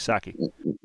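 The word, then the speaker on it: Psaki: uh cornered uh zapasaki i always like followed by an s so i just pronounced it was a silent piece saki um oh you're right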